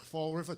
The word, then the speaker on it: Fall River: the way I talk Fall River two L's two o's we don't pronounce any of them I don't know if